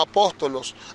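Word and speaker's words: ἀπόστολος: una cúpula pero la la palabra apóstol significa enviado y en el griego se pronuncia como apóstolos ahora hay estudios que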